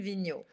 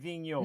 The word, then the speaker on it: Vigneaux: please just once vino vigneon vignon no not vignon vino oh oh vigno exactly vino yes very good thank